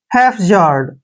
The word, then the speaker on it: haphazard: हैफजार्ड, देखिए हैफजार्ड।